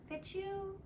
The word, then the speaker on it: fichu: And that would be the, hold on, I'm going to say it wrong, fichu? Fichu?